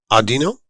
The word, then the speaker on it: Audino: we are pleased to be joined by Susan Audino perfect is that unpronounced that right perfect what's the Origins on